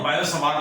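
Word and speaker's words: Biot–Savart: हूं, जिसको कहते हैं बायट-सवार्ट लॉ। कहीं कहीं इसको उच्चारण में टी को साइलेंट रखते हैं और बायो-सवार्ट लॉ भी बोलते हैं।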